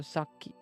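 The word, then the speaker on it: さっき: you can hear the because it has the double k and the Double K is from that little it makes the key longer so Saki Saki so the key you just pronounce okay longer and that means a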